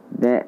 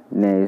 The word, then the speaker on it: Jna: Last Jna. Jna as in Sarvajna. Name of Kannada poet Jna is to be pronounced as Jna along with Sarvajna.